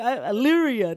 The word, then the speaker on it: Elyria: Elyria, that's it. Oh, my God, I feel so bad. It's like a Canadian saying Wanapanega or something. Yeah. Like, what? He said Elyria.